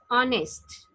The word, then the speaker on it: honest: Yes ma'am ठीक है H silent होता है honest. It will be spoken as honest.